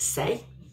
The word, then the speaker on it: Saie: this is this little beauty now this is pronounced say oh you just learned that i follow um